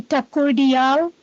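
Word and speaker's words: Thakoordyal: All right, so pronounce it for me. Good morning, ma'am. It's Thakurdial. Thakurdial?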